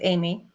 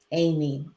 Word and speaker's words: Amie: Is your first name Amie? It's Amie. Oh, Amy. Okay.